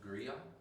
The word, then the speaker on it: griot: I think that's a beautiful place to start on the griot.